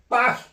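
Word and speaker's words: Paris: 자 여러분 이거 프랑스를 공부해 본 사람은 알 거예요.이 빠리 할 때도요. 빠 빠리가 아니에요. 말하면 얘는 빠히 빠히 그래요.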